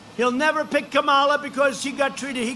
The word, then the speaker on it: Kamala: booker and you had kamala you know if you pronounce her name wrong she goes crazy come on like a comma it's like a comma